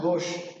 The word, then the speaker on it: gauche: but in gauche conformation even the spelling is g-a-u-c-h-c we pronounce at gauche so in the gauche